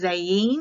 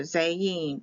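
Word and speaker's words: זַיִן: Z Zorro's sword and it's pronounced zayeen because the eye is pronounced like an e it can be spelled with a Y also zeying both are correct this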